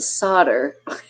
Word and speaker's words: solder: in and right exactly it's pronounced solder I knew I said it wrong but I was I